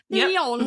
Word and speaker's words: Pillion: Pillion.